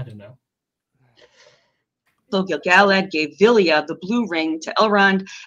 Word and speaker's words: Vilya: But Vilya instead of Vilya.